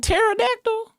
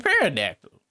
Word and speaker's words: pterodactyl: She was saying pterodactyl. I thought I thought she was saying pterodactyl.